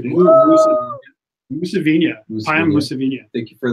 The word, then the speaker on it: Mousavinia: Mousavinia.